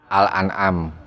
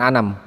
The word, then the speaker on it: Al-An'am: Al-An'am Al-An'am ayat 160. Al-An'am bukan Anam.